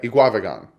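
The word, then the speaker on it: Eguavoen: Sam now one of you guys helped me pronounce his name he GUI eat guava GaN yeah II guava GaN Sammy guava GaN linebacker number 94 49 sorry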